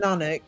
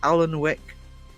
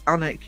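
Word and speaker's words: Alnwick: The number of people tourists who come here and call it Alan Wick and it's Anic. You don't pronounce the L.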